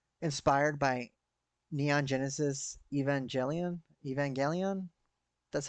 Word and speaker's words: Evangelion: suit's very um inspired by neon genesis evangelion evangelion that's how you say it um and there's